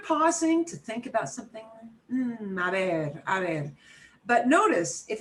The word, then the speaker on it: a ver: And now I want you to hear how it sounds when I've got it sandwiched between the a and the e. A ver.